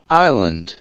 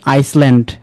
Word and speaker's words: island: তারপরে এইটা কি বলে, island, আইল্যান্ড, আপনি কি বলেন আইসল্যান্ড, অলরাইট। debris, podios, ওকে, তারপরে আসেন সাইলেন্ট লেটার টি এর বেলা, যেখানে টি এর প্রনাউন্স হবে না।